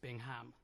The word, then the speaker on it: Bingham: um Stuart Bingham well firstly it's pronounced Bingham Bingham sorry and secondly uh